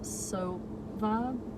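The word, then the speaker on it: Sowa: My website, it's Sova, but it's spelled with a W, not a V.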